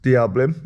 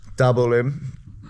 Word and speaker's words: Dabolim: The plan is to go from where we are, which is Diablim. Am I pronouncing that right? Dabolim.